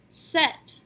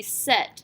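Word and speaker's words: cette: We do not have to worry about this with feminines because the feminine singular demonstrative is already pronounced set.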